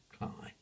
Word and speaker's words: Cley: had cly the losses written CLE y but the locals all pronounce it cry so that the other